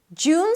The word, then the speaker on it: June: June starts with a J sound, then the oo as in food, and it's a long vowel, so make sure you round your lips. Jew, and then close it with an N.